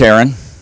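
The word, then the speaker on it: Aeron: out you know uh my name is Aon it's spelled AE r o n not a a r o n please don't call me a Aon besides a Aon is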